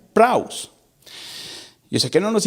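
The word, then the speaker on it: πραΰς: Esta palabra manso viene de un vocablo griego que dice que se pronuncia praus.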